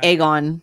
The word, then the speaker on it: Aegon: there's an a here so throwing the a is silent it's like aegon right like aegon is like it's the a